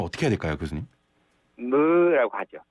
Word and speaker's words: ㅱ: 그런데 그거를 조금 더 가볍게 입술을 약간 이렇게 무 이렇게 하시면 됩니다.